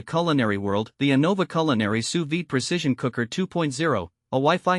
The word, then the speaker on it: sous vide: Pronounced sous vide, it's a cooking method that involves sealing food